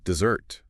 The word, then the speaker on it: dessert: And hopefully you saved room for dessert. The sweet part at the end. Cake. Ice cream. Dessert. And the stress here is on the end.